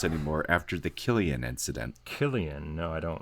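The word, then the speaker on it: Cillian: But his name starts with a C. It's Killian. Why would you say Killian? Yeah. Oh, my God. That is so stupid. Anyway, all written by... Why wouldn't you name him with a K? Then? He's Irish, okay? So if you see the word C-I-L-L, kill.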